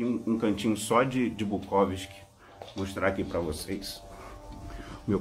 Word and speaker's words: Bukowski: sentido né porque assim eu acho o técnico pronúncia correta do nome dele é bucausque muita gente chama Chaves do causc mas eu